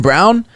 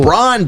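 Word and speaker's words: Braun: jayhawk boy let's go brawn bro not brown is it brown it's brown that's how it's brown b-r-a-u-n yeah it's brown yeah i don't know why he pronounces it that way i just know that's how he says it damn that's weird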